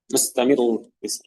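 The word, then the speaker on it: مستمر: Ya, mustamiru. Makanya seperti ini, ya mustamiru. Ketika misalnya dalam keadaan waqaf atau wasal, maka kita membacanya dengan ya dengan tebal.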